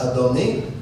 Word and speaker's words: Adonai: what's interesting is that actually spells Adonai here it's pronounced adoni but here it also